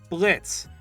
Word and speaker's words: Blitzo: of a boss himself blitz yes the o is silent i don't know why